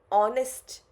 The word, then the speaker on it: honest: Honest, even though it starts with H, but gives you an O sound. Right? Because you completely skip H in the pronunciation.